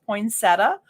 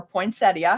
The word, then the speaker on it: poinsettia: to be part piping a large poinsettia or poinsettia however you like to pronounce it we're going to be